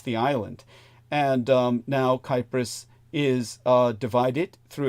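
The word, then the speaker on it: Κύπρος: when turkey invaded the island of kypris as the Greeks pronounce it uh I was saying Cyprus in a past episode uh but uh uh V was reminding me the Greeks pronounce it kypris she's quite correct and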